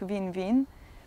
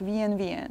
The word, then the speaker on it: Wien: to pronounce it, and she keeps speaking like Wien, and the other one is correcting her like Wien, and it's always twice.